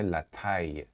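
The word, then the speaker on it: la taille: حالا شما فکر کنید که میخواید اندازه رو یا قد رو بگید، از کلمه لتای، این دوتا الاش تلفظ نمیشه.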